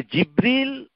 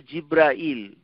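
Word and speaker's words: جبريل: নাম্মাজিব জিব্রাইল এটা হচ্ছে তাকে জিব্রীল আবার উচ্চারণ দুভাবেই করা যায়। জিব্রীল আরেকটা উচ্চারণ হচ্ছে জিব্রাইল। আমরা দুভাবেই নামটাকে উচ্চারণ করতে পারি।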